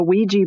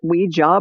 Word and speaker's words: Ouija: And so some people maybe pronounce it Ouija board, but I always heard it was Ouija board. So that's how I'm saying it.